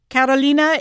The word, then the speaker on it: Carolina: Karolina Yanaz, welcome to CJAD800. Hello. Thanks for not butchering my name. By the way, you pronounced Karolina like a Latin lady.